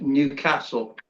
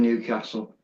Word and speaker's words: Newcastle: But pronounced as Newcastle rather than Newcastle.